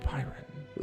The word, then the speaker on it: Biron: What if I told you that this horse didn't come from Krypton, but was actually a centaur named Byron, or Biron? It's spelled B-I-R-O, Byron.